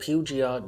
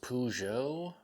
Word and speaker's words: Peugeot: brand new super affordable pugia doctor's watch i hope that's how you pronounce that let's review it so i think the brand is actually pronounced peugeot peugeot something like that so yeah i apologize